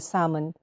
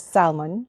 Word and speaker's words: salmon: If you notice, I'm actually trying to pronounce salmon as salmon because I always pronounce it as salmon in the Philippines. But yes, I remember a friend of ours actually said that it's actually the right way to pronounce it is salmon.